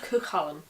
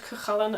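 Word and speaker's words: Cú Chulainn: The Cu is Cu because the U has a fada on it, and the Chalan is just the personal name Cullen, but put into the genitive so it becomes ch instead of k, like loch or bach.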